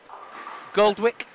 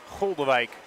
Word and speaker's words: Goldewijk: How do you say that? Goldwick? Goldewijk. Goldewijk. Oh, I'm just going to say Goldwick. Goldewijk.